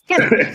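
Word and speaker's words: Kena: Kina, penis, whatever. I don't give a I fuck. said Kenna, man. Fuck y'all niggas, man. I'm tired of this shit. It's Kenna.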